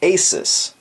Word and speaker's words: ASUS: on a slight tangent I used to refer to the company that makes this as Aus then they came out with a video defining how to pronounce their name and they went with Asus since then I've heard people from that company refer to it as Aus again so I'm going to